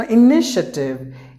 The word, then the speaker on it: initiative: There are 4 syllables in this word. The letter I is silent. So you have to pronounce it like initiative. 4 syllables. The TA should be pronounced like sh. The TA should be pronounced like a sh.